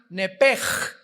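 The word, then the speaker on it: נפש: apúntalo ahí, el alma en el hebreo es nepesh, se pronuncia nepej.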